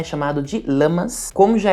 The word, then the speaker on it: Lammas: Mas só para falar que de acordo com minhas pesquisas, a pronúncia correta é lamas mesmo e lunassá, que esse sabá também é conhecido como a primeira colheita, a festa do pão.